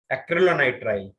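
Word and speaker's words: acrylonitrile: सर जो second monomer लिखा है सर, वो एक सिंगल ब्रैकेट में, सर उसको क्या प्रोनाउंस कैसे करते हैं? एक्रिलोनाइट्राइल।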